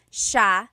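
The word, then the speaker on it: siya: about and then just a note about pronunciation it's Sha Sha the SI i y combination makes the Sha sound in the G some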